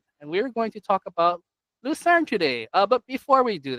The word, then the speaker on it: Lucerne: I say it Lucerne.